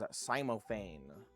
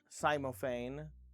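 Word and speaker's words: cymophane: Cats eye crystal barrel is also known as simophane.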